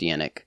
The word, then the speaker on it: Yannick: There's I don't know if he's famous, but there's a hockey player that's named Yannick, and it's actually pronounced Yannick.